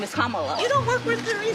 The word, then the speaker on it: Kamala: how to say her name earlier you said Kamala the way she pronounces her name is Kamala you don't work with her see that car